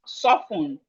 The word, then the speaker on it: soften: We have soften. Soften. So here are few words. Here are few words with silent letter T.